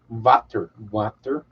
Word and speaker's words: Vater: Nick, a lot of times W is pronounced with a V. Vater.